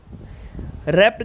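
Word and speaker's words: wrapped: रैप्ड के अंदर है ना डब्लू साइलेंट रहेगा।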